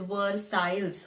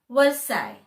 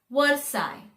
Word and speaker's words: Versailles: the spelling it is word styles or words sales like that but the actual pronunciation is versailles l-e-s all disappears versailles versailles obviously these are